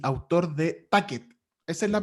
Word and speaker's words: Tacet: Rodrigo es músico y autor de Tacket. Esa es la pronunciación correcta además, ¿no, Rodrigo? Yo le digo Tacket porque me gusta cómo suena Tacket, pero también se dice Tatchet.